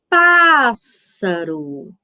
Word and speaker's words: pássaro: Falando a palavra pássaro. Na palavra pássaro, qual é a sílaba tônica? Isso, meus amores, o pá, muito bem.